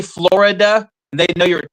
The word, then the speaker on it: Florida: It's 7 It's 7:00 Florida time. Fights come on at 7:15. Hey, I'm just letting you know we don't pronounce the I.